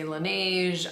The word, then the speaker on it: Laneige: have here is by lanaj some people say Laneige I don't really know how to pronounce it so I just say lanaj and it just sounds